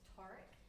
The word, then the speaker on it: Tarek: It's Tarek, just in case we haven't met. Tar like car, Tarek.